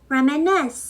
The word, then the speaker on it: reminiscence: 제가 모음에 넣지 않았습니다 그런데이 단원들 같은 경우는 첫 번째도 아니고 두 번째도 아니고 3절의 강세가 있거든요 그래서 제가 발음하기 어려운